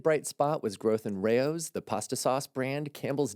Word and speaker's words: Rao's: So John has written out Rao's phonetically. And the reason he's done this is when we talked about this brand in the past, I kept calling it Rouse.